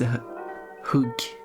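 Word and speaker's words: hugg: stab it hug it the Swedish term is hug is a stab which spelled like hug kind of use two G's don't get those mixed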